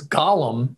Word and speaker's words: Gollum: And in Lord of the Rings, it's Gollum, spelled differently, pronounced differently.